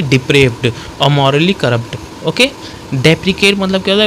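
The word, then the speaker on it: deprecate: विरोध करना, वो हमारा डेप्रिकेट। आप ये डेप्रिकेट है, और एक डेप्रिशिएट होता है। डेप्रिकेट और डेप्रिशिएट में प्रोनाउंसिएशन का ही अंतर है, और ई और आई का अंतर है।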